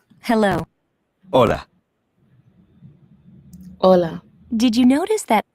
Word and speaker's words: hola: Hola. Hola. Did you notice that although hola starts with the letter H, it is not pronounced, the letter H is always silent in Spanish.